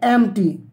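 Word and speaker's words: empty: एन एम्प्टी mind is a devils workshop. An एम्प्टी, इसको आप बोलेंगे एम्प्टी, पी यहाँ पर साइलेंट है, गौर कीजिएगा। एम्पटी नहीं बोलना, आपको बोलना है एम्प्टी।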